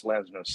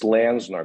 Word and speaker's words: Lenczner: i was doing ocis i had no idea how to pronounce lensner's slat not just landsnar but also slap and my you know part